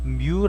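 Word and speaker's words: μ: 같구요 안그러면 안 그러면 마찰계수 뮤 라고 합니다 이건 미루고 여기 있는 베어링 점들이 수 그야 점도 지수 를 보통 나타내는 이것은 누우라고 합니다 그래서 누구라고 읽고 요원은 마찰 계수는 뮤 라고 있는데 여기서 마찰 개수와 반지름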